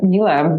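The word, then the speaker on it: Miele: marketer for an appliance company called Mila, pronounced like tequila for those who don't know. It's a German name.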